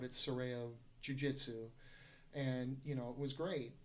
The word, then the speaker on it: Serrao: That, originally the school was going to be my name, which, kind of got Americanized, Serrao, but it's actually Serrao. It's pronounced Serrao.